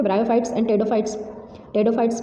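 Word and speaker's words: Pteridophytes: टेडोफाइट्स पी से start होता है, पी साइलेंट होता है.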